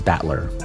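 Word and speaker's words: Battler: Or not butler. Batler, I guess. Batler. Not butler. Yeah, I know. I just thought I remember him as butler. I guess he's batler.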